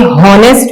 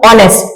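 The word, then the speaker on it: honest: अब मुझे ये बताइए कि हम इसे हॉनेस्ट पढ़ते हैं या ऑनेस्ट पढ़ते हैं? बिल्कुल ठीक, हम एच को खामोश कर देते हैं और ओ से प्रोनाउंसिएशन करते हैं।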